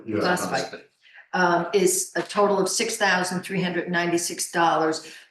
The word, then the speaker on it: phosphite: 20-0-6 for the Fort Fight, how is that pronounced? Phosphite, yeah. Phosphite.